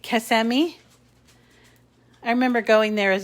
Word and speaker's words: Kissimmee: upper cloverdale kissimmee i'm saying that right right kasemi i remember going there as a kid and we would pronounce it kissamy and they said oh no only after dark